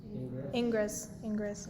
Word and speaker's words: Ingres: Ingres, okay.